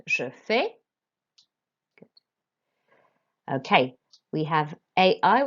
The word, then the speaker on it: fais: Again, we don't pronounce consonants at the end. Je fais.